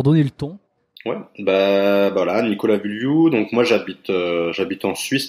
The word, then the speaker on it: Vullioud: Et alors Nicolas Vulliou, je le prononce bien? Je pense que t'es un des seuls qui a réussi à le prononcer correctement.